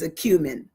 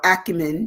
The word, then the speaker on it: acumen: Today, our word is acumen or acumen, depending on how you pronounce it or what part of the country or the world you're from.